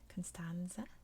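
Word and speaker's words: Constanța: Constanza is how you say that, a very big port city.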